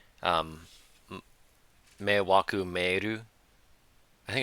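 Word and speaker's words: 迷惑: Oh, how's this pronounced? Meiwaku.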